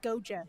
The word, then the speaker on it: Goia: Uh, Goa is how you say the last name.